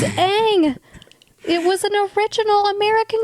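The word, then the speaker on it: Aang: go he goes It's pronounced on it's not pronounced on it's Ang it was an original American cartoon I can't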